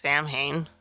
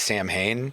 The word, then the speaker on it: Samhain: When he says the name of the band, he says Sam Hain. Okay. When he sings the word Samhain in the songs, he does pronounce it Samhain.